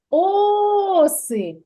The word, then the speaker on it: оси: слово оси оси так куди падає наголос в цьому слові оси о о на о вірно наголос падає на О так Правильно а